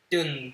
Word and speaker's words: Dune: The silent E at the end of the word makes the you say you.